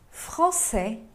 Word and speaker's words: français: Pode ver que o S no masculino não se pronuncia porque se trata da consoante final da palavra e já française se pronuncia o S porque tem um E depois.